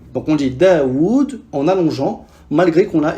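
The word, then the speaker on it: داود: Daoud, Tawus, Haoun et Qaoun. Normalement, Daoud s'écrira avec 2 waw. Del, elif, waw, waw, del. Mais les Arabes ont effacé le deuxième waw et ont laissé la prolongation dans la prononciation.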